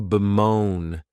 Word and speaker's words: bemoan: The next verb is to bemoan, and this verb has 2 syllables, and the stress is on that second syllable.